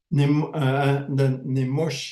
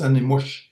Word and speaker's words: animush: the language, is that because ah is the first sound that you hear, and then nimush is the last syllables that you hear. So you'll remember those last syllables, okay? And you'll forget the first one, and nimush. So that's why they're shortening. People have shortened some words like that. Okay, so it's animush.